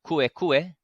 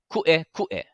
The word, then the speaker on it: kuʻekuʻe: So it's going to make those sharp breaking sounds in the middle of our word. It's not kuʻekuʻe. Yeah, not kuʻekuʻe. But we need to make sure that the okina is there in our pronunciation the same way it's there in our spelling.